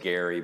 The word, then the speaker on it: Gerry: They basically declared that partisan gerrymandering, and it is Gary, by the way.